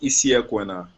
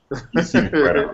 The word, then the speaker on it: Isi Ekwena: It's pronounced Isi Ekwena. Isi Ekwena.